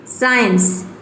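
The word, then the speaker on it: science: जैसे कि यहाँ पे देखिए सेंट, इसमें सी से पहले क्या आया है, एस आया है तो इसमें सी साइलेंट है। Saint, साइंस, seal, muscle, seizures, accent, इसको प्रोनाउंस करेंगे एसेंट।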